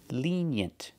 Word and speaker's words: lenient: opposite of strict pration lenient the first vowel is a long e like green beans Lee lent we have the Y sound like yellow and yesterday lean y y yent